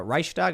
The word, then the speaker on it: Reichstag: thing is they're march marching next to the reichstag is that how you pronounce it yes with torches in their hands